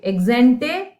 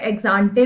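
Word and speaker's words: ex ante: अब मैं आती हूं ये इस पॉइंट पे, एक्सेंटे, सेविंग्स एंड एक्सपोस्ट। कुछ इसे एक्सांटे भी कहते हैं, अपना वर्ड ही है नहीं, जितना मर्जी प्रोनाउंस करते रहो। एक्सेंटे इज द एक्चुअल वर्ड।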